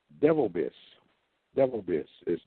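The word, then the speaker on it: Bivelbiss: And he pronounces that devil bless Devil Biss.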